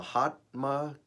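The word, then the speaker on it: Mahatma: theme working here huh from a hotma gandhi that's how you say it i know it's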